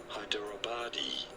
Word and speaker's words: Hyderabadi: How do you go about pronouncing it? Hyderabadi biryani.